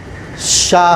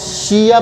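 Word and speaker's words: しゃ: ठीक है, लेकिन हमने अगर इनको प्रोनाउंस शिया प्रोनाउंस नहीं करना है, शाह प्रोनाउंस करना है, तो हमने इसके साथ शी के साथ छोटा या लगा देंगे तो ये हो जाएगा शाह।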